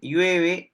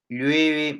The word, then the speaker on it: llueve: no se puede pronunciar llueve o llueve no dependiendo de eh la zona geográfica de repente o alguna transmisión intergeneracional de pronto no entonces eh yueve es el verbo lueve mucho en invierno no